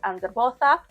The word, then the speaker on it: Angrboda: Loki also has two wives, Sigyn and Angrboda, or sometimes pronounced Angerbotha.